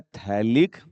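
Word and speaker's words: phthalic: है बेटा हेलिक acid pH यहां पर साइलेंट हो जाता है और इसका नाम क्या हो जाता है थैलिक्स पीएच साइलेंट है यहां पे ठीक है ना टी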